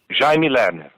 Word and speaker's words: Jaime Lerner: Jaime Lerner.